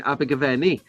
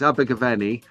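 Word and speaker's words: Abergavenny: see the orange line abig that's how they say it down there in The Valleys it's abeni but you have to put the Welsh slant on it Raul it's abig gaven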